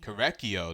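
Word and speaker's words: Korekiyo: Korekio, that's how you say it.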